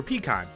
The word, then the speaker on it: pecan: You even fucked up the pronunciation for pecan. You know, Genghis Khan, pecan.